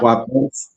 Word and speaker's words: Kwapis: Her name is Michele Kwapis, if I'm pronouncing it, Kwapis. Yep. Kwapis.